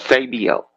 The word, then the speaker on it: Esabio: It's a short A, so it's Sabio, not long Sabio.